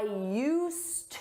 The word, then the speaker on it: used: And for that, we need use with a D. You don't hear it in pronunciation, but it's there in spelling. I used to work at the bank, but now I work at the mall.